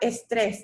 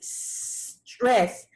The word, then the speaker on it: stress: The word is not estrés, that's Spanish. The word is stress. Make sure you pronounce it properly. No E before it.